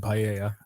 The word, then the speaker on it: paella: He pronounces the L in paella.